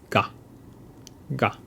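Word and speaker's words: が: By adding these two dots, K sound becomes ga, ga.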